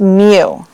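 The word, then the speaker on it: μ: or indicate the population mean and it's paramount pronounced mu you know alright and then over yonder for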